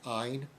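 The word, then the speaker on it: Ayn: looks like aim a y n but it's pronounced Ein Ein Rand um the Russian woman that came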